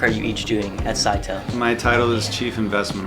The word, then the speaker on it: Scytale: Scytale works.